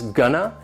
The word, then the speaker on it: gonna: is gonna and wanna they sound like one word that would have two syllables and the stress is on the first syllable gun no wha no that second syllable has the schwa that a sound which is a reduced valve sound and also notice there is no T sound in - it basically goes from that n sound that straight into the